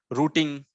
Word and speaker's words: routing: of word like route rooting so it will not be root it will not be routing it will be rooting rooting and Route so